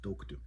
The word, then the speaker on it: toktu: So now if you notice that T doesn't make a like a crisp T sound like when we say taco or teabag. All right. So a T with nothing above it, nothing beside it, no diarrretic marks. It's going to make a muted kind of T sound.